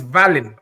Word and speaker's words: Wallin: I say Wallin because his name is spelt with a V, and they've made everyone put W, but it's Wallin, Otto Wallin.